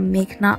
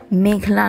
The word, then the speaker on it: মেঘনা: এই সময় উচ্চ আদালতে নিজের নাম ভুল উচ্চারণ করায় প্রতিবাদ জানিয়ে মেঘনা বলেন, আমার নাম মেঘনা আলম। মেঘলা নয়।